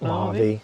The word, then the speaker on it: Mojave: Is that how you pronounce it? Mojave.